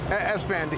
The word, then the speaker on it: Esfand: How do I pronounce that? Esfand. E-S-F-A-N-D.